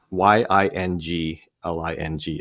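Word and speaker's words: Yuengling: Yingling on Draft, but they had spelled it Y I N G L I N G.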